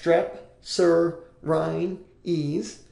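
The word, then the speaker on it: strepsirrhines: a big word there it's pronounced strep Sur Rin ease and these have large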